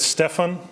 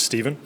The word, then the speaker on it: Steven: to the reading um Rosemary said Stefan which is the British pronunciation of my name which is Steven just so you know